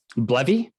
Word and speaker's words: BLEVE: Can you spell it? Blevy?